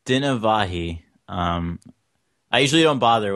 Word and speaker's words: Dinavahi: so today we have and could you pronounce your last name for me it's dinavahi um I usually don't bother when I'm like